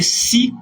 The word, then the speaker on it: six: pourtit précision ça s X se prononce comme si lorsque c'est placé devant un nom commençant par une consonne on dit six femmes on dit six garçons est-ce qu'on est là